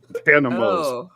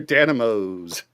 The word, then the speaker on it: dynamos: That's not how you pronounce the word dynamo. Danos. They're dynamos.